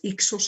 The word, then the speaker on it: Hyksos: Gobernantes extranjeros, reyes pastores, como les llamaron los egipcios, a los que conocemos como los Hyksos, bajo los cuales Ixos se escribe con H y con una C intermedia, bajo los cuales Egipto vivió su llamado periodo intermedio.